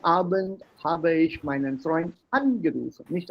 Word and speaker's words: angerufen: Ja, gestern Abend habe ich meinen Freund angerufen, nicht angerufen, angerufen.